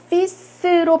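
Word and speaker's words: fils: 요거는 아까 발음 조심하라고 그랬죠? 피스로 발음이 나는 거라고 그랬어요.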